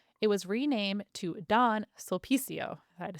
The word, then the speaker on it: Sulpicio: Sulpicio. It's all about the Lines. emphasis on this right A company syllable.